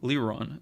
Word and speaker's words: Liron: of a French feel it's just a Hebrew name so LeRon it means I'm happy